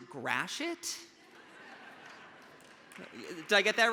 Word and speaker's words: Gratiot: all logic and reason that this street is pronounced Gratiot did I get that right okay okay great